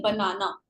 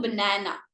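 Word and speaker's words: banana: For example बनाना, बहुत simple word है। अगर मैं बोलूं बनाना, फर्क पड़ रहा है ना दोनों वर्ड्स बोलने पे?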